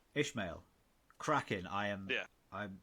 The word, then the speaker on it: Ismail: Ismail. That's the one. That guy. Yeah, that's how you pronounce it, Ishmael. Ishmael.